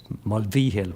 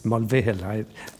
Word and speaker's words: Mulvihill: If you're up in Roscommon, they pronounce the V in the name. They'd say V-Hill, Mulvihill, whereas anyone else, it's Mulvihill, But my dad is from Roscommon.